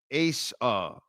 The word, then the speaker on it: Asa: 2 high safety D thoughts, and also it's pronounced Asa. Oh, Asa. Oh, okay. Like the basketball player, Asa. And it's Asia. So Asa.